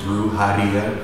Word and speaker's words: Brujeria: It's actually Brujeria, that's how you pronounce it.